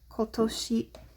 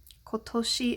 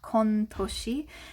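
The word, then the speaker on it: 今年: are writing this year kotoshi kotoshi is this year so not kontoshi it could be konnen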